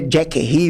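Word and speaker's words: Jacquerie: a gente ri né Jackie rie uma pronúncia em francês né Jack seria uma ideia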